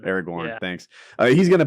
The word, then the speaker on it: Aragorn: Am I saying his name wrong? Aragorn. Aragorn, Yeah.